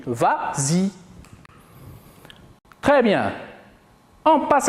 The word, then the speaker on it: vas-y: Mais comme il est suivi d'un pronom, on ajoute le S pour faciliter la prononciation. Et on dit vas-y.